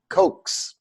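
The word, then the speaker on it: Kocs: And the name of this city in Hungary was called, it's spelled K-O-C-S, Koks.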